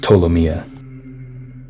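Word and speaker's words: Ptolemaea: to take you guys for a loop it's pronounced tomia I followed you and I was with you there.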